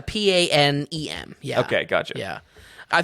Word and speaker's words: Panem: And is it pronounced like the old airline? No. It's a Panem.